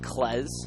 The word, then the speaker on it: Kleszcz: There was some confusion on how to pronounce his last name. It's spelled Kleszczz. But we got confirmation it is indeed Klez.